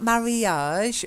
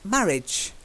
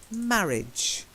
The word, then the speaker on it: marriage: not Mary Yosh or Mary edge it's marriage it's a funny one I know it's just marriage yeah literally as if that a is not there at all so the a is silent it's just each at